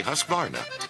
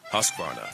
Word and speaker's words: Husqvarna: now how to say husqvarna you say husk like corn and varn like varnish without the ish and nah